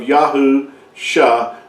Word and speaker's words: Yahusha: So when you see that when you put those two together, you come with the pronunciation of Yahusha, Yahu, revealing that salvation is found in Yahuwah, and salvation is his function, is what he has described himself as.